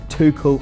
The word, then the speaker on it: Tuchel: and that is former Borussia Dortmund manager Thomas Tuchel. I've been corrected in my pronunciation, but he's still very much an attractive proposition for the Saints.